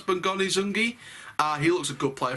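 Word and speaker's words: Bongani Zungu: That's how to pronounce Bongani Zungi.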